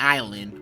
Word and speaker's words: island: use mine but seriously we're all pronouncing it Island but we're all spelling it Island imagine being a teacher trying to explain to your students the pronunciation of Island all right kids this is how you spell island why is there an s in it well if you must